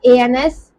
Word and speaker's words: ans: Okay, अभी कोई number of years, एंड then years का pronunciation is okay, it is not answer, it's ans, which means years, full stop.